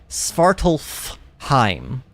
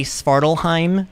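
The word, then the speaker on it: Svartalfheim: spartalheim now I know there's an F you're technically supposed to pronounce this word spartalph Heim okay but the the f is just in the way so I'm likely going to say spartalheim just a lot and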